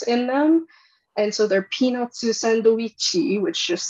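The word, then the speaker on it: ピーナッツサンドイッチ: And so they're peanutsu sandoichi, which just sounds like I'm making fun of Japanese, but I swear that's how it's actually pronounced.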